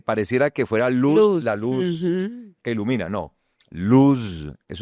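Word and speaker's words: לוז: Luz, eso es una palabra, eh, pareciera que fuera luz, la luz que ilumina, ¿no?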